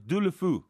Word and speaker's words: Deulofeu: It's Deulofeu. Believe He's me. struggling with that surname. Believe me, I know these things. If you're in Spain now and you said Deulofeu, everybody know exactly what you're talking about.